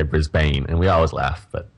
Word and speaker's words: Brisbane: city um it's BR it's a bit of a misleading especially because of the a but people here say it Brisbane bris I think every American come here and they say Brisbane and we always laugh